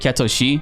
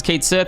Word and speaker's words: Cait Sith: what is interesting is that in the Japanese pronunciation of it they've always called it ketoshi but I know a lot of people will be happy to see that Kate Sith as being pronounced as Kate Sith and I for one I don't care either